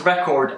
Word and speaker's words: record: If you pronounce record as record with a stress on R-E, it is a noun, and it either means